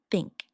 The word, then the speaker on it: think: Put your tongue gently between your teeth and blow air out for the repeat after me. Think think 30 thunder.